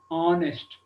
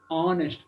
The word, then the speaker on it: honest: Honest. So H is silent. Okay. Honest.